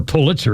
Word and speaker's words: Pulitzer: On this day in 1992, a guy named John Hagen files for divorce from Roxan Pulitzer or Pulitzer is how it's pronounced.